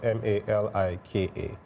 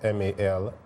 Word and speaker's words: Malaika: So I actually wanted to so my Malaika is spelled Malika, right? But the way it's supposed to be pronounced is Malaika.